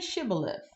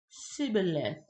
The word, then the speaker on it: Shibboleth: 6 no I'm not they would tell him say Sheba live if he was from Ephraim he would say sibilant Sheba less because people from even cannot pronounce the word correctly then they would take